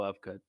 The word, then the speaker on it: Ufgood: character Arc of Willow of good it's in the name himself right the last name of of good right it's ufgood it's pronounced off good come on now Willow